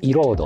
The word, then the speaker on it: Erode: Erode ? Éroder? Oh! Éroder! Cette chanson, Erode, est importante. Le mot anglais d'origine se prononce comme "I-rode" mais, d'une certaine manière, les membres du DIR l'appellent "E-rode".